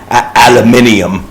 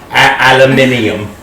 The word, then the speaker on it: aluminium: Aluminium. That's how they say it. Aluminium.